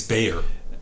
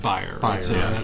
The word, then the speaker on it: Bayer: well they they because they think it's Bayer yeah not buyer that's like the German pronounciation but I I've been